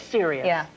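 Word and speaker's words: Sirius: so you know and it's Sirus Black or serious it is serious serious black I love the twist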